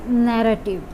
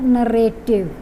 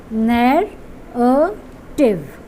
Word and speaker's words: narrative: It's narrative. Narrative. It's not narrative. If you look at the pronunciation, there are three syllables over there. Narrative. So we are not supposed to pronounce it as narrative.